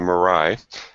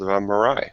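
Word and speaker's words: Moirai: a really nice IPA that's called marai so um whenever I think of Mariah I'll think of good tasting beer and not unicorn cars so but it's spelled different spelled m o i r AI but uh had some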